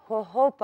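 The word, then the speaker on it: jojoba: بتتكتب الهلابينيو بالجي جلابينو فهي بتتنطق ها فنطق نطق صحيحي هوهوبا اويل ده مرطب قوي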